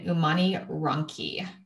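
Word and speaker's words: Umani Ronchi: in the central part um it's called an umani ronki that it's spelled u-m-a-n-i and then r-o-n-c-h-i for all of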